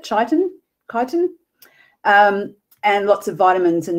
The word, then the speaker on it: chitin: Good source of chitin, I think is how you pronounce it, chitin, and lots of vitamins and minerals in these as well.